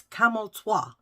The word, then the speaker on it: Camel Toe: So there's a dance teacher in it, and her name's Miss Camel Toi. Yeah, but it's spelled camel toe.